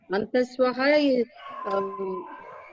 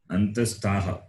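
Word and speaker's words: अन्तस्थाः: avargaha and antaswaha, antaswaha and ushmanaha plus is avargaha, or a different 4/4? Antastaha.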